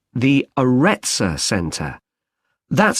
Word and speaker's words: Areta: got a rather strange name it's called the areta center that's spelled a r e TS a okay they've